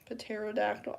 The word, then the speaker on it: pterodactyl: Pterodactyl. I don't know. Why is it spelled with a P? They could literally just remove the P and it'd be fine. Cuz we just say it like pterodactyl.